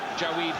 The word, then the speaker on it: Jawaid: He's improved fast as Jawaid Khaliq. That's how he says we have to pronounce it, not Jawaid, Jawaid.